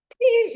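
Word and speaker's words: phat: Okay, pe is spelled P-H-A-T, okay? And pe, the P-H-A, it's spelled P-H-A-T.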